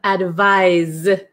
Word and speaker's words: advise: sound advice and then number eight we have advise advise okay so this is like more of a z sound oh okay Erica is